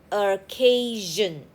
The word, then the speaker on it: occasion: And SION says jen. Occasion.